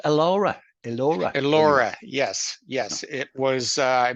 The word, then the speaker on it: Elora: Is it pronounced Elora? Elora, where you are. Elora, yes, yes.